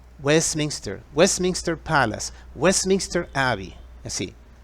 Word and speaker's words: Westminster: la histor y queda también el Palacio de Westminster donde funciona el parlamento inglés y que fue construido para un rey otra vez la pronunciación escúchala bien Westminster Westminster Westminster Palace Westminster Aby así otra fecha 18